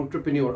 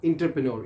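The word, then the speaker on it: entrepreneur: एंटरप्रेन्योर ये French word है और प्रोनाउंस आप कैसे कर रहे हैं, एंटरप्रेन्योर। आपने रिपीट करना है मेरे साथ। ये मोस्टली हम यूट्यूब पे देखा जाता है, जो कि word main and women, ladies and gentleman, जो हमारे दोस्त यार हैं वो गलत इसको प्रोनाउंस करते हैं, इंतहाई गलत प्रोनाउंस करते हैं। दे प्रोनाउंस इट एज इंटरप्रेन्योर।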